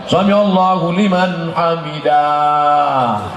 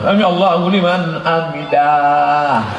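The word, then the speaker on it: سمع الله لمن حمده: Bacanya pendek. Samiallahu liman hamidah. Ini ada yang imamnya panjang. Samiallahu liman hamidah. Mana ada alif di situ kan pendek. Samiallahu liman hamidah.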